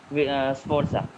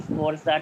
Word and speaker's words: Sforza: portraits of the Duke Francesco and the Duchess Sforza. And that's why this set of cards is known as Visconti Sforza Tarot. Can you spell it, sir? Visconti, V-I-S-T. Visconti, hyphen Sforza.